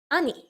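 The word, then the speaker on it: 兄: four three two one and stop this is ani ani is brother but especially elder brother and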